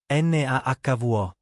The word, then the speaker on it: Navajo: Pronunciation note. Navajo, Nahvo, Choctaw, Choctaw.